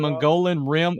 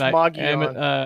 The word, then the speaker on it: Mogollon: cryptid Sasquatch living on Mongolian Rim outside of Payson. It's pronounced Mogollon.